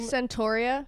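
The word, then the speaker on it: Centorea: How do you pronounce her name? Centauria.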